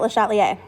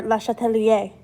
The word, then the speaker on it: Le Chatelier: All right, let's talk about Le Chatelier, or Le Chatelier, for those of you who care about pronunciation.